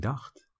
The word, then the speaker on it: dacht: Ik dacht, ch is pronounced ge. Ik dacht, wij dachten, ik heb gedacht, which is I have thought.